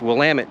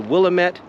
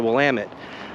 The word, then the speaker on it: Willamette: we call it the Willamette River right it's Willamette damn it there's a whole t-shirts for about that it's not the Willamette it's the Willamette well if you don't properly uh craft your